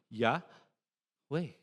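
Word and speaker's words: Yahweh: you say yeah way whenever you inhale you say the first syllable yeah way yeah way you try it it's actually breathing.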